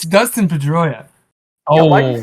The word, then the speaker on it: Pedroia: In, His last name rhymes with Pastoria. Like Oscar Pastoria. you stumped him, Drew. My goodness. It's Dustin Pedroia.